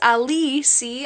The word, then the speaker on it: Alicia: by you it's pronounced a lessee ah it's because it's Spanish did you guys know